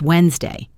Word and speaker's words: Wednesday: The D in Wednesday is silent. So it's Wednesday.